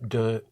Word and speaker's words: de: Sorte is spelled S-O-R-T-E. Quelle sorte? And the word for of is de, spelled D-E.